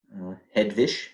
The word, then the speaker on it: Hedwig: Hedwig is how it would be pronounced in German.